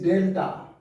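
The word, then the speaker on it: ∂: This is delta. We read it as del. TA को हम नहीं पढ़ेंगे, इसको हम del से प्रोनाउंस करेंगे।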